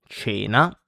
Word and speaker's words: cena: Then we have C when it's followed by E or I. And in this case, it's pronounced like CH in English. So like, for example, church.